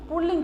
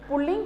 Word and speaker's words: पुल्लिंग: सही कर लेते हैं, लेकिन पुल्लिंग का उच्चारण सही तरीके से नहीं किया जाता है। मोस्टली सबसे पहले हम इसका उच्चारण में ध्यान देंगे। इसे मोस्टली हम जब भी यूज़ करते हैं पुल्लिंग ऐसे बोल देते हैं, लेकिन इसका सही उच्चारण है पुल्लिंग। इसमें रे का साउंड कहना है तो इसमें कोई मात्रा है नहीं, इसमें साउंड आना चाहिए। कई मोस्टली लोग पुल्लिंग बोलते हैं, लेकिन यह एकदम रॉन्ग है।